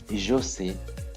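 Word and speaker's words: sais: conjugation is I know say I know say you know now remember there a singular inal form then we have say don't pronounce the S don't pronounce the S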